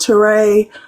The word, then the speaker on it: Touré: It's pronounced Touré.